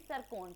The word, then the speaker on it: Tsirkon: देखो TSIRKON, that is सरकोन। टी यहाँ पे साइलेंट है, ठीक है।